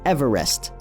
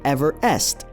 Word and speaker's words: Everest: 1830 to 1843, and who, in fact, pronounced his name as Everest, as opposed to Everest.